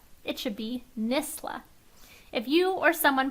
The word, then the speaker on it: NSSLHA: But if not, this says, there is no sh in NSSLHA. We've heard our acronym pronounced a lot of different ways, but the most commonly incorrect way we hear it is NSSLHA.